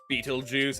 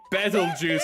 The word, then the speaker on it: Beetlejuice: I keep I keep saying Bettle Juice cuz they say it cuz how people pronounce uh Petal Juice um when it has a P is they go like Petal Juice, you know, like it's as in like a flower petal.